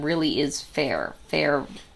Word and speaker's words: Feyre: Feyre Like fairy.